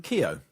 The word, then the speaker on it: Keogh: And also live music with Louis Ford and Rich, how do you pronounce his surname? Keogh. Keogh. Oh, Keogh, okay.